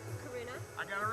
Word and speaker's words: Karuna: my name's hard too okay one second okay k a r u n a last d e w n doctor yes do pronounce karuna I got it right karuna okay beautiful all